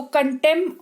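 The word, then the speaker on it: contempt: comment करके मुझे बताना अगर किसी शब्द में पी के तुरंत बाद टी आए तो पी का उच्चारण नहीं होता है जैसे की सी ओ एन टी आई एम पी टी यहां पर देखो पी के तुरंत बाद टी आता है तो इसको कंटेंप्ट नहीं पढ़ेंगे इसको कंटेंप्ट ऑफ कोर्ट पढ़ेंगे कंटेंप्ट नहीं पढ़ेंगे पी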